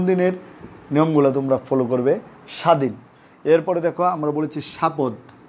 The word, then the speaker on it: স্বাধীন: আর এখন কি বলছি, শব্দের শুরুতে বফলা যুক্ত হলে বয়ের উচ্চারণ হয় না, তবে সংযুক্ত বর্ণটি সামান্য জোর দিয়ে উচ্চারণ করতে হয়।